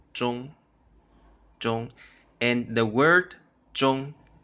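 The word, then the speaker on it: 钟: other word here John John okay you can see a different Chinese character here John but they have the same pronunciation Jeong Jeong and the word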